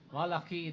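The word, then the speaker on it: Malachi: Malaki that is ang tamang pronunciation niyan in Hebrew.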